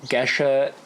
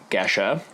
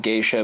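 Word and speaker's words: Gesha: so like I said geshe is correctly pronounced Geshe a lot of folks call it geisha but that is because it is incorrectly associated with the Japanese term geisha not true so we're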